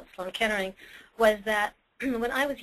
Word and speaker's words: Sloan Kettering: it, and that was Sloan Kettering. But because of my father's accent, he pronounced it like Sloan Catering.